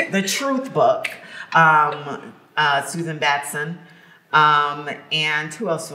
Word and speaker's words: Susan Batson: i recommend those um there's suzanne um batman i believe that's how you say her name has it is that right that's it susan batson yes yes but she